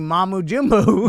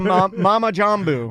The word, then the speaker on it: mumbo jumbo: Well, I'm going to start saying mamujimu. No, it's a mama jamboo. Mama jamboo. Mama jamboo. Okay, that would be the correct way to say it.